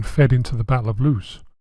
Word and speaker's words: Loos: into the Battle of loose which perhaps ironically is actually pronounced loss GHQ kept the two